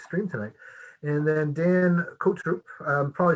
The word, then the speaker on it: Cotrupe: It is Cotrupe like a sneeze. Cotrupe like a sneeze. Achoo, like right.